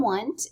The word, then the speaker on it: Wundt: So William Wundt is actually how you say it.